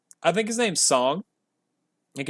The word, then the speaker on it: Tseng: they are met by another Turk song or sing I think his name's song I think it's pronounced song I'm pretty sure I think it's